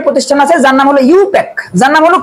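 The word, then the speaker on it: IUPAC: atomic energy agency I এ আর এটা হলো ইউপ্যাক আই ইউপিএসসি আই এর উচ্চারণ হবে না হবে ইন্টারন্যাশনাল ইন্টারন্যাশনাল ইউনিয়ন অফ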